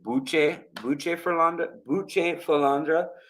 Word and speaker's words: Bucephalandra: So here is Bucephalandra, or it should be pronounced Bucephalandra is how it should